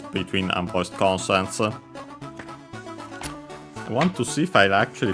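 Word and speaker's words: 岩: But the word is iwa, accent on the last syllable, rock, boulder.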